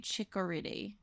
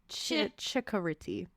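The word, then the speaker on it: Ciccoritti: That's an Italian name, so it'd be Chicoriti. Chicoriti. It's Okay. C-I is pronounced ch. Chikoriti.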